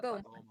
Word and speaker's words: Beaumont: I don't know how you pronounce that. Beaumont.